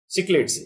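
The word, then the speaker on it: cichlids: Where are the largest quantity of सिचलिड्स, सिक्लिड्स, ये actual में है सिक्लिड्स, होपफुली प्रोनाउंसिएशन मेरा ठीक है, सिक्लिड्स बोलते हैं इसको।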